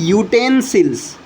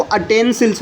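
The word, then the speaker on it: utensils: पर एन लगता है जबकि इसको बोला जाता है यूटेंसिल्स देखिए इसको बोलते क्या है इसको बोलते हैं यूटेंसिल्स क्योंकि ये या से शुरू हो रहा है कुछ लोग इसको अटेंसिल्स बोलते हैं अगर आप अटेंसिल्स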